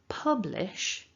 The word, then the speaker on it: publish: in the throat so to put that syllable together we're looking for Pub Pub exactly the same pronunciation as that place that people go to drink beer alternative word for bar is Pub so that's what we want here Pub and it's the strongest part of the word so when we say the word publish Pub should come out slightly more strongly um one of the